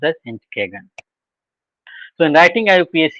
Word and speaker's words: Entgegen: This is pronounced as Entgegen, and this Entgegen, though it is written Entgegen, this is also a German word which means opposite.